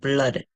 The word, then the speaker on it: blood: Another word where two O's say is in the word blood.